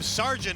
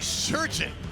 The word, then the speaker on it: Sargent: I can't help calling him Sargent. It's actually Surgeon to pronounce this, but he's he's an entertaining guy.